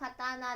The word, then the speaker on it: 刀: Chữ Kanji cho "刀" được đọc là "katana."